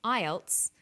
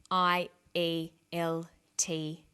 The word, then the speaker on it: IELTS: is called an acronym with an acronym we don't pronounce the individual letters we pronounce it as a word so we say IELTS not I a L T yes some other examples